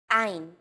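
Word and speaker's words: עין: Three of these letters are pronounced deep in the throat. These may feel unusual at first, but are fun to say once you get the hang of them. Ein, chet.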